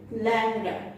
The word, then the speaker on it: ল্যাংড়া: যেমন দেখো, ল্যাংড়া, আমরা কিন্তু লিখেছি ল্যাংড়া, কিন্তু আমরা ল্যাংড়া বলি না, আমরা বলি ল্যাংড়া।